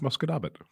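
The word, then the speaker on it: Musquodoboit: muso not even nope how how do you say it it's muscab it muscab but it muscab it muscab it yep it's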